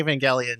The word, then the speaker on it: Evangelion: it's like the way Evangelion. Or even I always forget if it's the hard G or the soft G. It's hard G.